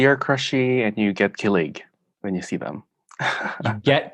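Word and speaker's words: kilig: spell it it's k-i-l-i-g i would pronounce it killig close yeah it's killig okay leg so emphasis yeah second part okay what does that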